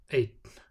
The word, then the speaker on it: einn: Following a vowel with an acute accent, I, A, or Ö, the pronunciation is TN. Fín, brún, einn.